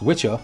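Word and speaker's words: wicca: Historically, Wikah, pronounced witchah, was a male witch and wiki, pronounced witchy, was a female witch.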